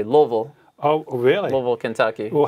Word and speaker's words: Louisville: Seneca High School in Louisville, Kentucky. Uh-huh. Most people, I guess, in the north would say Louisville. Down there, people with their accents, they say Louisville.